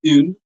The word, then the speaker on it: une: The other one, which is used before a feminine singular noun, will be pronounced as une, and the third one, which is used before any plural noun, will be pronounced as they.